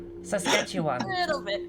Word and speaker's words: Saskatchewan: Saskatchewan. A little bit. You're not getting it wrong. It's just that you can tell you're not from here. Like, you know, just a little bit different pronunciation.